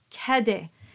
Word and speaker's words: Cadet: a as in top so taking a word that comes up a lot in this song how would you pronounce it would you say Cadet or would you say Cade now if you've been paying attention you know the answer it is in fact kede and this is very